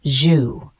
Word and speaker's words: jus: is a meat-based sauce the word just Jus is a noun pronounced zuu it's a thin sauce